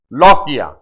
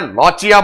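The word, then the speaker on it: lochia: जो vaginal changes हैं उन्हें नाम दिया जाता है लॉकिया, लॉकिया बोल देते हैं, लॉचिया बोल देते हैं, आप जैसे प्रोनाउंस करना चाहे कर देना, अपन लॉकिया कर देंगे।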